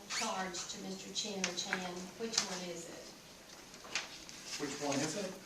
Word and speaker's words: Chan: Chin or Chan. Which one is it? Which one is it? Which one? How do I pronounce his name? Chan. Chan. My understanding Chan.